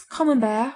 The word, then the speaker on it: Camembert: is the best since common bear rhymes with beware if you can't get